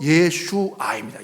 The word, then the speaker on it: 예슈아: 근데이 예수의 히브리적 발음은요. 예슈아입니다. 예슈아.